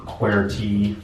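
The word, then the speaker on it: QWERTY: lot of people talk about is the standard query that's how you pronounce it and the story here is that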